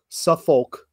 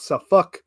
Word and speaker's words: Suffolk: Northern accent we came down and we called Suffolk and nor folk as as it should probably be pronounced but it is in fact sauck and nor folk if you're down there yes